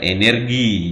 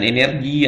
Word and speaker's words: energi: Energi, jangan energi atau energi.